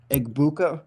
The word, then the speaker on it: Egbuka: You have arguably the best wide receiver to come out of the draft class from last year too in Egbuka, I believe is how you pronounce his last name.